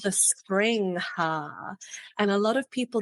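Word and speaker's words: springhaas: an animal called the spring ha and a lot of people don't know what a spring ha is so they actually spelled spring hair but spring ha is the pronunciation and they look like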